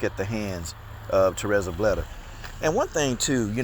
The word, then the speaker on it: Bleda: Because, you know, throughout the whole fight, you kept saying this girl's name is Blazer.